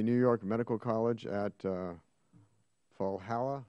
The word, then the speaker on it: Valhalla: He earned his medical degree from the New York Medical College at Valhalla. How do you say that? Valhalla. Valhalla.